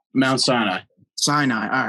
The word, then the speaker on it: Sinai: Did I pronounce that right? Mount Sinai. Sinai.